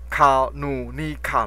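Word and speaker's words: karunika: 嘎，哦，我们也可以把它念成卡鲁尼卡，好，这样单字比较不会记错，哈，K A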